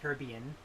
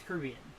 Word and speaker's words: Caribbean: And no, I'm not going to pronounce it Caribbean, like American. It's Caribbean.